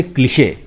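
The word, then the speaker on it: cliché: ये ई के ऊपर जो लगा हुआ है ये है एक स्पेशल मार्क और इससे डिनोट हो रहा है कि हमको इस ई को पूरा प्रोनाउंस करना है, इसे बोलेंगे क्लिशे.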